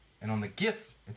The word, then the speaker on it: GIF: creator of it says it's a hard G it stamped the G stands for graphics but we need to do this and jiff needs more marketing so